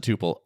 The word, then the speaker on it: Tuple: We pronounce it tupal. Tupppel is a totally legitimate pronunciation of that word as well.